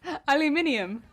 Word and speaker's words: aluminium: Aluminium is correct. Just because Americans butchered the English language doesn't mean the rest of the world has.